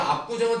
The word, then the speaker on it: 압구정: 자, 압구정은 체언이기 때문이 아니라 그냥 무조건 발음상 우리 된소리 되게 되잖아요. 그런데 원래가 된소리가 아니고 발음이 음운의 변동을 일으켜서 된소리가 되는 경우는 반영하지 않는다는 얘기예요.